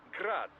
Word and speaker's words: Grad: old Soviet firm indeed technically the yuchi's name is pronounced the Ukrainian way but most in the business pronounce it as grad Russian style crazy to think I'd